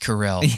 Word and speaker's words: Carell: takes Steve Carrell yeah he is pronounced Carell yeah he I remember